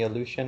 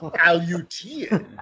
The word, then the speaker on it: Aleutian: sea, flew supplies to Inuit tribes in the Aleutian Islands, didn't have the gas to get to